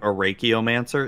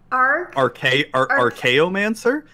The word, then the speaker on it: Archaeomancer: Zuby just murdered the pronunciation of Arachiomancer. Is that not how you say it? Arachiomancer? How do you pronounce the name? Oh, shit. Archaeomancer?